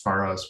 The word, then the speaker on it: Pharos: It's Pharos with, that's a standard just English thing. Sometimes F sounds are spelled with a PH and sometimes with an F.